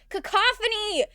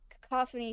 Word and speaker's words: cacophony: Cacophony. Thank you. Thank you, dear. I knew I was saying it wrong. I I I knew it sounded wrong. Cacophony sounds better. That sounds more like a word.